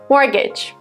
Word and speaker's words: mortgage: The next word is mortgage. Mortgage is a type of loan that you get to buy a house. It has a letter T, which is silent and is not pronounced.